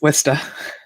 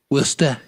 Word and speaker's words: Worcester: I know how to say Worcester. You didn't say it right. It's Worcester. Worcester.